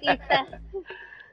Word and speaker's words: Itza: Yeah, it's Itza. like pizza, but don't pronounce the P, just the pizza part.